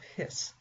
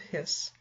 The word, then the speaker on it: His: in the bundle of hiss now I know it looks like his but it's pronounced bundle of hiss and bundle just basically means it's a bundle of axons and apparently mr.